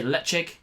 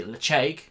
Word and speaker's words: Ledaig: as I can, the Ledaig. Now I know that some people say Ledaig, but I'm given to believe it's acceptable to say Ledaig or Ledaig, something like that.